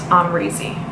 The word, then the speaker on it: Amrezy: So how to pronounce my name, it's Amrezy.